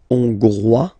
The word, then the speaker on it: Hongrois: Okay, Hongrois, Grois, Hongroise. Okay, so here final S not pronounced for the masculine form, and then you pronounce it here for the feminine form.